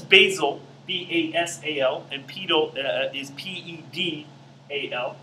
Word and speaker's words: pedal: b-a-s-a-l and pedo is p-e-d-a-l almost like petal but pronounced pedal disc it's able to